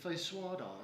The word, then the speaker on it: feijoada: And it's feijoada, is the way you pronounce it.